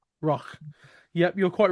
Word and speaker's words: Rough: R O U G H Royal.